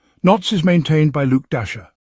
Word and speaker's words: Dashjr: Knots is maintained by Luke Dasher. Yes, pronounced like Santa's reindeer.